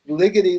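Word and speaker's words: Ligeti: that that's very good it's Ligety like lickety-split it's not like spaghetti use that that is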